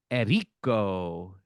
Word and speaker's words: Enrico: Yeah, we have E- Enrico. Is that how you say his name? Yeah, he's white, so I don't usually don't trill it.